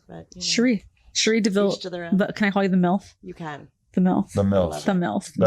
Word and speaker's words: Cherie Deville: Did I pronounce it correctly? Yes, you actually did, which is amazing. No one ever does. What do people say instead? Cherie Deville. Cherry, all kinds of crazy stuff.